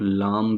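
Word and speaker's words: lamb: को लांघा जाता है इसको आप लाम भी पढ़ सकते हैं जबकि लैंबी पर सकते हैं इस वर्ड के अंदर जो लैटर भी है वह साइलेंट है लिहाजा यह लांबी लांबी पढ़ सकते हैं उसके बाद जो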